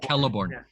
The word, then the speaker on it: Celeborn: Celeborn. Yeah. Yeah. I always, I don't know why I do that. Just think Celt. Hard C, Celt, Celeborn.